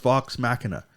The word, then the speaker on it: Vox Machina: that's how you spell it yeah but it's pronounced Vox Machina but it is dope check that out but